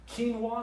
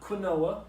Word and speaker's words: quinoa: Quinoa, it's not quinoa. My good friend Jeff told me that that's not how you pronounce that a long time ago. Corrected my pronunciation on this, so it's quinoa.